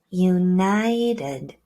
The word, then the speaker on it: united: Let's think about this word, united. Do you hear that sound?